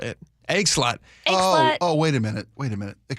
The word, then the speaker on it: Eggslut: there's no way EGGSLUT is the name of this restaurant that's not pronounced Egg Sloot. Apparently it is.